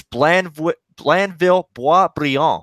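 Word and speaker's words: Blainville-Boisbriand: Yeah, the pronunciation. I was trying to get that correct. It's Blandville Boisbriand.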